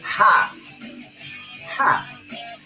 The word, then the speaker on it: half: Bueno, así practicamos esa palabra half, que no se pronuncia half, right? Half, half.